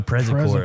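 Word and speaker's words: Przekora: 2 syllables. Don't put 3 syllables in it because we'll fight you. We won't fight you. How do people? Prescora. Oh, Prezcora. Prezcora. Yeah. Ah, Yeah. Prezcora. Yes, Prez. Like the president. P-R-Z-E. Yeah. Cora.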